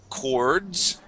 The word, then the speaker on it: chords: Let's go to the word chords. Right here, chords. Chords. Good, yes. In this word, the CH is pronounced like a K.